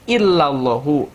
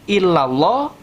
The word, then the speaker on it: illallahu: Maka tadi kita dengar dibacanya fil wujudi illallahu, enggak illallah dan enggak illallahi, begitu ya.